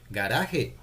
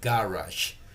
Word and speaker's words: garage: appears at the beginning they are going to say gah but no the word you have to explain to them that the word is writing is something similar to Spanish but it's going to be pronounced in English. Got it? So they have to say garage and let them repeat